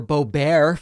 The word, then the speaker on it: Boebert: Radical Trumpist Republican Congresswoman Lauren Boebert, or Boebert, for those who prefer that pronunciation.